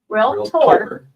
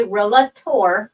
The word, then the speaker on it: realtor: It's realtor. Don't ever say realtor. You're a realtor.